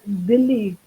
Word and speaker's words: Delhi: From street food to international cuisine, Delhi or Dilli, how we lovingly pronounce it, it's a foodie's corner in every aspect.